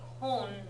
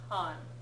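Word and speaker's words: コン: Okay, make sure you're pronouncing it kon, not kan. コン Yeah, computer. If you look at the really tiny hiragana there, you can see it's a ko, not a ka.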